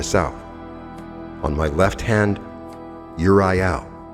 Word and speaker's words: Uriel: On my left hand, Uriel. Some people say orel, but Uriel.